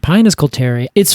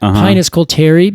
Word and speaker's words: Pinus coulteri: Coulter pine, Pinus coulteri. It's funny when you said that, Pinus coulteri, because I always pronounced it Pinus coulterii. And that's not it. There's only one eye there.